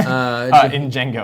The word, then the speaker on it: Django: Jinx Decoy, the D is silent. In Django, I believe.